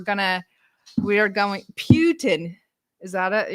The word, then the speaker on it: Putin: We're going to we are going Putin. Is that it? You want me to say it like a a British person? Putin. Um, but anyway, uh, yes.